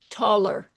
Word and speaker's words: Tolle: It's sort of like the way people in Boston pronounce Toller, but it's Eckhart Tolle. Anyway, I think that's the way you do it. I could be wrong.